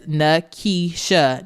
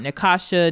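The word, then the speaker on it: Nakeisha: She says that's Nisha, not Nasha, not Natasha.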